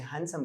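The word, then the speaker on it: handsome: और हैंडसम में डी को प्रोनाउंस नहीं करते हैं, मैंने जानबूझ के हैंडसम कहा, डी कहा, लेकिन उसे हैंडसम कहते हैं।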